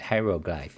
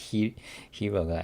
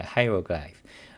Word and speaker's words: hieroglyph: clipper hieroglyph okay right that's how you pronounce it hieroglyph yeah not not he you know not hero hieroglyph okay so then then